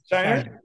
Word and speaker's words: Scheinert: Scheinert.